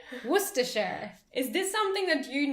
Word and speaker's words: Worcestershire: You don't pronounce the R.